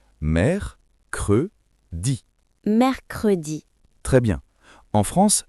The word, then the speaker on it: mercredi: 3e jour, mercredi. Attention à la prononciation. Mercredi.